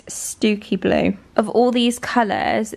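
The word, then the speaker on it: Stiffkey: How would you pronounce that? It's Stooky Blue. You'd never think that, would you? Looks like Stifky.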